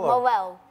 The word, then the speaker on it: Marel: Now, am I pronouncing it right? Is it Marel or Marel? Marel.